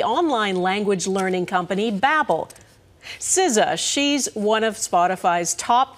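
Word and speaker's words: SZA: our words sometimes too and now the most mispronounced words of 2023 are out compiled by the online language learning company Babel siza she's one of spotify's top 10 most dreamed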